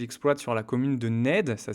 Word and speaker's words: Nedde: Une forêt qu'il exploite sur la commune de Ned. Ça s'écrit N E 2 D.